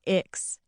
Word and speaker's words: ICCS: When I left my big public school and transferred to ICCS, short for Intertribal Community Charter School, and pronounced Ix, I really thought things would change for me.